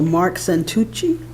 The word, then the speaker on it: Mark Santucci: First green card I have is for Mark Santucci. I get lucky twice in a row. My pronunciation. Yeah, you got it perfect.